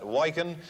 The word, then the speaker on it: Wyken: Somebody lives in Coventry, just told me how to pronounce that. Wyken in Coventry, CV2SGF.